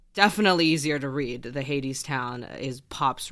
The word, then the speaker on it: Hadestown: And Hadestown. Oh, perfect. Okay. Great.